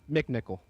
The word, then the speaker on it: McNichol: That does not say McNichol on my screen. That says McNichol. But it's pronounced McNichol.